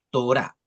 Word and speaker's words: Torá: tal como se escribe, Torá, con acento en la A, o los libros de la ley, que forman parte del Pentateuco.